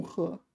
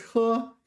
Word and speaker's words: 喝: No, this is 喝。 This one is 喝。 It's the same character, different pronunciation, right?